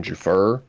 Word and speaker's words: Giuffre: the name of Virginia, I can't even pronounce his last name, Jafar. It's French, bro. You know. It looks French. Giuffre.